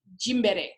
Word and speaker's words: Gymboree: That's basically how it's pronounced, unless you're saying it the way my husband wants me to say it, which is Jimbere, which is the African version.